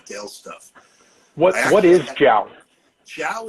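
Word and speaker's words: 酒: Jiao is the Cantonese pronunciation of liquor. If we were in Mandarin or from the northern of China, we'd say Jew. It's the same character, so it's either Jew or Jiao.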